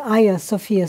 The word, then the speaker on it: Hagia Sophia: places we're going is hagia sophia which is and i'm probably mispronouncing the the lights like aya sophia right right um it